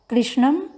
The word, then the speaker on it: कृष्ण: बना श्वेता हकू हकू कृष्णम परिश्रम मार धारण पश्यति स कि उच्चारण करते समय ध्यान रखेंगे कृष्ण में मूर्धन्य ष है कृष्णा में तालाब रहता